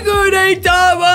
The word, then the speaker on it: Gudetama: His name rhymes with Ooh-Hey-Yama. Because, family, his name is Gudetama.